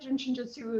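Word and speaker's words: Jin Shin Jyutsu: people know about it, Jin Shinjutsu is somehow is a little bit obscure. So the first word is jin. J I N. It's pronounced like the drink. The second word is shin.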